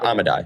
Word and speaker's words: Amodei: Dario Amodei, how do you pronounce his last name? I'll forget. Amodei, yeah.